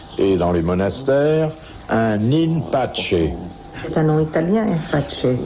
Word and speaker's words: in pace: dans les monastères un in pace? C'est un nom italien, Pace. Non, latin. C'est du latin prononcé C'était plus à la latin romaine. qu'italien.